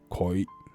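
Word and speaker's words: 佢: This means he or she in Cantonese, and we can read it in koi. But in standard Mandarin Chinese, this character has become a rarely used character, and the pronunciation also changes into qu.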